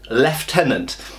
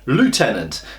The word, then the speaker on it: Lieutenant: out that um we say in Britain leftenant and Americans say Lieutenant now because of the